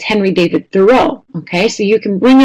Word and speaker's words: Thoreau: And then encourage them 2 weeks later, 4 weeks later, 6 weeks, remind them, remember, it's not Henry David Thoreau, it's Henry David Thoreau, okay?